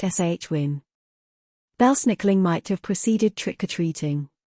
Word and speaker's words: Samhain: However, a majority of them are pronouncing the word Samhain incorrectly, saying Samhain. In fact, the word is correctly pronounced shwin.